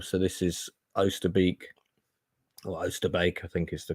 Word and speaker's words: Oosterbeek: So this is Oosterbeek, or Oosterbeek, I think is the correct pronunciation, where the British had dug in slightly better numbers than they were.